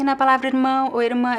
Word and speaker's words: irmã: on the accent because the R here is positioned at the end of a syllable, right? It's not followed by a vowel. And in this case, at the end of syllables or the end of words, the R can be pronounced in at least 3 different ways depending on the accent. So it could be irmã with the R in the throat.